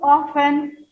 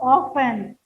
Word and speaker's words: often: Rupa, how often do you go on such trips? How often? OFTEN. Here students, T is silent.